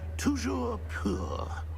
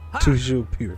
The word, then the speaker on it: Toujours pur: Toujours pur. Toujours pur.